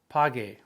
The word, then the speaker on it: pague: You go pago, P-A-G-O, but when you change that O to an E, you need to insert the U between the G and the E, so it maintains that hard G sound. Pague.